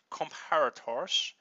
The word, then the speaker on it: comparator: mispronouncing it um but I looked it up and apparently it's comparator so I'll be announce